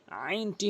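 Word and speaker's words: عين: এরপর আসুন আইন, আইনটি হলকের মাঝখান থেকে চাপ দিয়ে আইন বলতে হবে।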